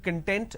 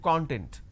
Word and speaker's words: content: a different meaning altogether for example content and content these are two different words but we interchange a lot of times lot of people use the word content content please give me the training content it's not training content it's training content so these are the